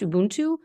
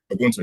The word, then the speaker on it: Ubuntu: your papers on this, like, I believe it's pronounced Ubuntu. Ubuntu, yes.